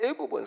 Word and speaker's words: 애굽: 그런 의미가 있습니다 어디서 우리가 애국이라 그렇게 이야기하는데이 애굽은 사실 중국식 발음입니다 중국식 발음이고 우리나라 발음 그대로 하려고 하면은